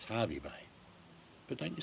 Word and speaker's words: Hervey Bay: It's funny, people that don't know how to say it will say Hervey. Have you been to Hervey Bay? No, no such place. It's Harvey Bay.